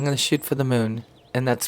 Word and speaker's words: Mün: I'm going to shoot for the moon. And that's spelled M-U with the two dots over it, N.